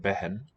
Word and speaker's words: बहन: We spell it with just 2 short us, but behen, not spelled with an eh, just comes out that way.